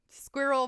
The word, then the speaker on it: squirrel: Squirrel versus squirrel. Oh my god, Americans squirrel. Make squirrel a one syllable word.